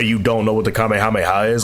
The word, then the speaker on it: Kamehameha: was a lot of people pronouncing the Kamehameha wrong they're saying like Kam Kam Kamya or whatever they were saying and it was to